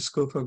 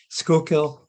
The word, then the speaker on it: Schuylkill: the CEO of the Schofield Giver green uh I'll say it right now skokill River Greenways um and there's